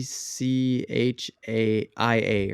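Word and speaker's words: Tchia: it's called Uh Chia but it's like t c h i a or something like that but it's called It's pronounced Chia okay and it's about a little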